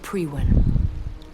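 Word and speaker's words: Priwen: lightly it was the once glorious guard of pre-win also that's how you pronounce it once glorious but still dangerous they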